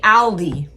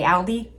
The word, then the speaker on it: Aldi: Like they say like gloss, but they say Aldi. It's so bizarre to me cuz we say Aldi like the word all like a L.